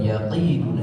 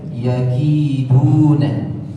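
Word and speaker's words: يَكِيدُونَ: Yang pertama yakiduna, perhatian pengucapan huruf kaf yang harus dibedakan dengan huruf qaf. Jadi bukan yaqiduna tapi yaki. Ki ada nafas yang harus diakhirkan dan dia sifatnya tipis. Kita baca yakiduna.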